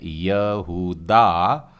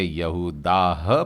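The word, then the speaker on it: יהודה: है और हम इसे हिंदी में कहते हैं यह हुडा और यदि आपने इससे यहूदा पड़ा है तो मैं समझता हूं बिल्कुल सही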